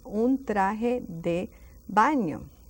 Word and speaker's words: traje: So it's un traje de baño. It's a bathing suit. Traje de baño. Don't lose those J's, pronunciation like an H.